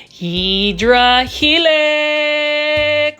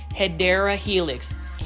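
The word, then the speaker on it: Hedera helix: Hedra helix or the correct way to say it, let's do it again, right? Hideera helix. Hedra helix or hideera helix.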